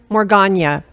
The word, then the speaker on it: Morgaine: Morgaine. I'm going to second that motion. Okay. Good morning, Board. My name is Morgana. I'm going using Gaelic pronunciation of my last name now because very recently